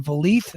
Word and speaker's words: Vliet: And Scott D'Amore was on Chris Van Vliet. I don't know how to pronounce his last Van name. Vliet. Van Van Vliet, Vliet. like Yeah. Greta Van Fleet, but Chris Van Vliet.